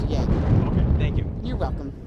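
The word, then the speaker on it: Joerger: It's spelled J-O-E-R-G-E-R, but it's pronounced Yeager.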